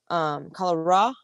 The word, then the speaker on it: Colorow: But the actual Native American chief, Colera, Colera is how they pronounced it.